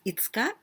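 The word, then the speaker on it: 五日: But here 5月 it means May, 1月 January, 2月 February, 3月 March, April, 4月 5月 May, and 5日we pronounce itsuka, but this is also 5, go, and nichi, this is the day.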